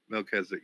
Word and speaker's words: Melchizedek: Melchizedek, yeah. Melchizedek, Melky. Melky. Yeah. It's pronounced Melchizedek.